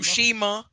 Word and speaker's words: Tsushima: Blitz, how you pronounce this shit? huh? Tsushimi? Tsushima. Tsushima.